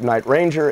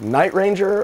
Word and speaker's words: Night Ranger: which martha quinn calls it night ranger accent on the first one and everybody else is like night ranger it's like what is it is it night ranger or is it night ranger it's like that's a that's a tricky one there jack blades from